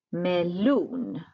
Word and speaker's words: melon: Melon. Betoning på slutet.